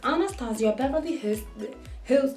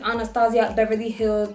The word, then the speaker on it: Anastasia Beverly Hills: I am gonna use this Anastasio Beverly Hills, I said it wrong. This Anastasia Beverly Hills Dipbrow Pomade.